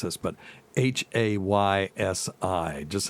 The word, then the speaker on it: Haysi: Okay, Tacie knows how to pronounce this, but Haysi. Just how would you pronounce that? That is a town in Virginia. Haysi.